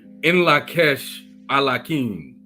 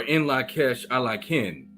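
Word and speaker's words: In Lak'ech Ala K'in: the greeting is pronounced as In Lakesh Alakin, or In Lakesh Alakin.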